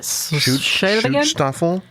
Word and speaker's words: Schutzstaffel: Schutzstaffel. It's a protection squadron, I guess is the German pronunciation.